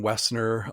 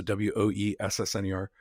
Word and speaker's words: Woessner: So Woessner on LinkedIn. My last name is good German last name is W-O-E. The O is silent. O-E-S-S-N-E-R. So W-O-E-S-S-N-E-R.